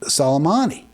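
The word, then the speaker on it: Soleimani: the uh Irani General solomani kasm uh is how it's pronounced I believe salomani he said it was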